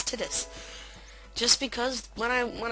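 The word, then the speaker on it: Tidus: water now I know I'm probably the only person in the world who Pro who pronounces Titus or tetus pronounces name as Titus just because when I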